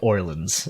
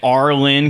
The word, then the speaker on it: Orlin: Well, it is spelled that way, but it sounds like Orleans. It sounds like New Orleans. The Orlin Community The Center.